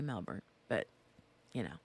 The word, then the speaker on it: Melbourne: friend Grace she's from Melbourne or Melbourne Melbourne not Melbourne I say Melbourne but you know it's Melbourne here's the thing there's an r in it but they don't pronounce the r hey Sarah however if